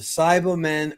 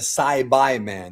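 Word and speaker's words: Saibamen: out of respect but the cyber men or it's actually the sibi men that's the right way to pronounce it there's a tiin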